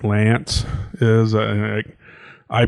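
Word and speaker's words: L'Anse: you know where like lance is i i pronounce the al ants but it's i think mostly it's pronounced lance um i thought like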